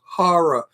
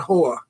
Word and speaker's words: horror: The word is horror, not whore.